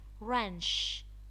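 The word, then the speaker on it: wrench: there be a silent ranch ranch the W is silent knit knit decay its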